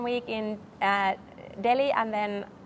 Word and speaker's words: Delhi: So I have been 1 week in Delhi, and then, is it without the silent H? Yes. Right. Did I say it right? Yes, absolutely right.